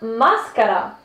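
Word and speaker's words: mascara: marca se le llama máscara que curiosamente es una palabra española pero se pronuncia más cara más cara cierro ciego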